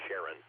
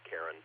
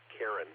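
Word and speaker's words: Charon: t more typically pronounced Sharon, not Karen. But mythologically, Karen, I think, is the right choice there.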